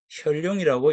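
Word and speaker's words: 見龍: 대부분의 사람들이 이자를 이제 견으로 이제 지금 읽겠죠. 읽는데 어, 이 견으로 읽으면 안 되는 게 뒤에 이 용용자가 이제 나와요. 이 용용자가 나오면 아, 이 글은 혈룡이라고 읽어야 되겠구나라고 이제 생각이 되어야 합니다.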